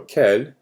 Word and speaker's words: quel: So these are your interrogative adjectives, and they all sound the same, but the spelling is different. So for the pronunciation, you have quel, et quel. Okay, so quel, singular masculine.